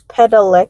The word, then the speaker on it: Padalecki: Padalecki. Padalecki. Padalecki. Padalecki. Lecky, not lackey.